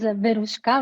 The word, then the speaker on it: Veruska: So my name is Veruska, which is a Russian name. So it's so hard to pronounce that people call me Veru, Veru.